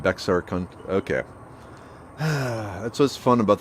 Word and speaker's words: Bexar: to me hmm okay the x in bexar is silent and bexar okay that's what's fun